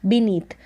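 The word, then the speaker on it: beneath: ये जो EA है, ई करके इसका उच्चारण हो रहा है, बी नी, और TH को थ, बीनीथ।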